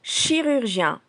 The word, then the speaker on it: chirurgien: Traitons maintenant le mot chirurgien. Il porte le chi de chiffre, le ru de rural et à la fin du mot, il y a le son yan de chien.